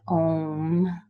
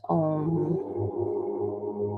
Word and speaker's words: Om: The sound, as you can hear, is Om, A-U-M, but pronounced Om, like O-M.